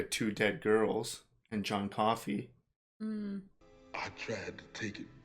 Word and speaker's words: Coffey: Your name is John Coffey. Like to drink, only not spelled the same.